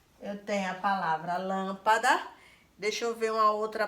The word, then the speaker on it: lâmpada: Por exemplo, lâmpada. Quando você fala lâmpada, lâmpada. Qual foi a sílaba que você mais demorou quando você chamou? Lâmpada. O lã, não é isso? O lã. Então, eu vou acentuar na vogal que está aqui.